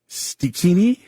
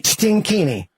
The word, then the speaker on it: Stikini: This is of the Stikini or the Stigini. How do you spell it? Stikini. Stikini. Stinkini. No N.